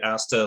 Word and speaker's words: Asta: I should note, I think the pronunciation of it's supposed to be Asta, like in pasta.